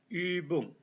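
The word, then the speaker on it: Übung: Jerman itu disebut ini ini cara bacanya Ibung ada Om laut titik du di atas Ung itu artinya latihan oke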